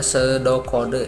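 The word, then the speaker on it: pseudocode: pesode kode ya ya itu dibacanya sedokode ya atau sedokode ya seperti itu yang pertama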